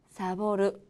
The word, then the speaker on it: サボる: 그리고 오늘 배울 단어는 레포토, 사보르, 다이엔다입니다.